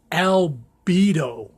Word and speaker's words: albedo: I'm my pronunciation is not this clear, but it's albedo. It's a Latin word, and it comes from white, the Latin word for white.